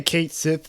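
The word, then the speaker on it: Cait Sith: meet Kai Kai uh how do you pronounce that I say they say Kate they say Kate Sith in the Kate Sith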